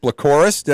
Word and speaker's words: Plakorus: Regan of a team doing good right Lycoris I pronounced that right yeah you got it okay